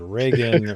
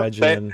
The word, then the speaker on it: Regin: I wasn't if it was Reagan, Regin, No, Regin. however you want. Regin, not sure Regin either. sounds better than Reagan. Reagan sounds too ordinary.